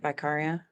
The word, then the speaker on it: Vicaria: points all right so vicaria right vicaria yeah we were given a lesson early on in this film about how to pronounce her name so I just want to make sure I'm not doing it the way that her teacher did it I think you're correct if we have it